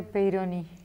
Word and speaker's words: Peyronie: ¿Qué es la enfermedad de Peyronie? Lo pronunciaste bien.